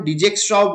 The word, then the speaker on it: Dijkstra: এবং এইখানে আমার একটা অ্যালগোরিদম ইউজ হয়, সেই অ্যালগোরিদমটার নাম হচ্ছে কি ডায়ক্সট্রা অ্যালগোরিদম। ঠিক আছে, তো আমরা অনেকেই এটার উচ্চারণ ডিজেক্সট্রাও বলে থাকি, নো প্রবলেম, যাই উচ্চারণ আমরা করি।